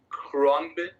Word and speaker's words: Khruangbin: It's spelled Khruangbin. Khruangbin.